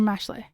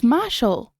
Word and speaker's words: Mashle: Is it Mashal or Mashley? Oh, as in the word muscle. It's Mashal.